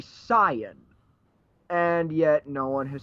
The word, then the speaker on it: Saiyan: Well, literally what they say is Saiyajin, which means that really a correct pronunciation would be Saiyan.